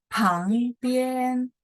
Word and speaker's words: 旁边: Pang ya, PH itu bacanya pang-bien.